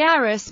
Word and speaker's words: Arras: Unlike many French words, the final S in the name Arras should be pronounced.